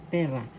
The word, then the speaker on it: pera: lang pera pera pera first syllable pe second syllable ra the first syllable has the accent so you pronounce this as pera that means money lang